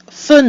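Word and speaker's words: fête: end of the syllable F we have e with an a circumflex which is pronounced e and another mute e at the end of the word which is silent giving us fet s s so we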